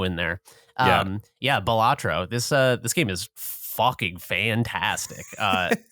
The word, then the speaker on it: Balatro: Balatro? Is that how you say it, Jeremy? Yeah, I keep calling it Balatoro.